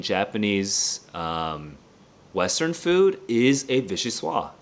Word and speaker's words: vichyssoise: Vichy swa. How do you pronounce this thing?